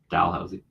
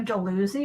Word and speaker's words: Dalhousie: Nova Scotia called dilhousie Dalhousie Dalhousie they're spelled exactly the same but pronounced very differently and it really confused